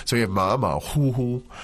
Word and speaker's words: 虎: But it's normally the third tone Yeah. for tiger, 虎. But here, you pronounce it as the first.